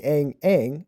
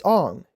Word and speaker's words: Aang: In the interview, he says, instead of pronouncing Aang, it's Aang. You know, pronouncing it correctly.